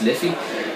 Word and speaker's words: Liffey: Yeah, now it's spelled Liffey, so it's pronounced Liffey, but it's actually it was called the River of Life, and it got its name.